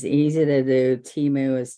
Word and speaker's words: Temu: it's easy to do Teemu is t e m u and you pronounce it like T moo all right and so